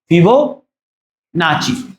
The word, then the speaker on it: Fibonacci: मुझे लग रहा है नाकी होगा, दैट इज नॉट नाकी, दैट इज नाची, है ना? फिबोनाची, फिबोनाची पूरा नाम है विरह विरह विरहंक विरहंक विरहंक फिबोनाची सीक्वेंस।